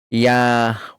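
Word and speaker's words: יהושע: Miren, misajín, consecuentemente la pronunciación antigua hebrea correcta del nombre que introdujo a nuestro pueblo en la tierra prometida sería Yahoshua o Yahoshua.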